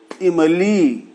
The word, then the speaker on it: इमली: जैसे इमली, तो ई छोटी है, ह्रस्व है। इमली और ली जो है वो दीर्घ है। तो इम बोलने में जितना वक्त लगा उतना वक्त ली बोलने में लगता है।